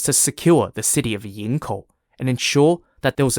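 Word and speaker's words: Yingkou: were in the way to the city of yinko y-i-n-g-k-o-u yinko was a Seaside City and port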